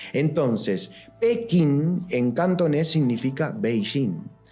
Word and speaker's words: Beijing: Liceo como quieran llamarle me enseñaron que la capital de China es pequín Y por qué ahora des hace tantos años a unos años hasta aparte le decimos beijin bueno porque en realidad nunca cambió la ciudad siempre fue beijin significa Norte Shin capital